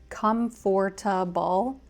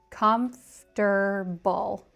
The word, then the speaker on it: comfortable: The word comfortable is often tricky for non-native speakers because it looks like it should be comfortable, four syllables, but in American English, we tend to say it with just three.